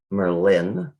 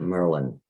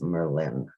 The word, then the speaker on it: Merlin: village of merlin by the way it is pronounced merlin not merlin so if you want to act like a native it's merlin how it got that name nobody's sure there's